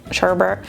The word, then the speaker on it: sherbet: in here or sherbet Sherbert you know it's spelled like sherbet but we all call it Sherbert or at least I